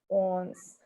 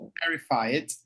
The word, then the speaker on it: one: I'm okay with the small ones, but I'm terrified of the Good big pronunciation. ones. Terrified of the big ones. Ones. Guys, on. It's one. One. Not on.